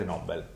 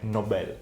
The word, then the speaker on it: Nobel: inventato e cioè Alfred Nobel. In realtà si dovrebbe pronunciare Nobel, ma in Italia lo pronunciano tutti Nobel.